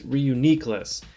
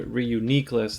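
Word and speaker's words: Reuniclus: of the day is Reuniqueless, and I looked up, on the show how they pronounce it, and in the book they are pretty much the same. Reuniqueless, the accent's on the third syllable.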